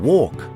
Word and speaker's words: walk: In lion, for example, we pronounce it loudly and proudly, whereas in walk, we never pronounce it at all.